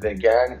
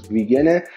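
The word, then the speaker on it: vegan: گیاهخوارم با ویگن فرق میکنه، خیلی هم دارن میگن ویگن، نمیدونم وگن، این کلمه تلفظش اشتباهه، ویگنه.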